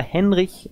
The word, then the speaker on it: Henrich: Wird Henrich geschrieben, aber Henrich ausgesprochen. So ist es.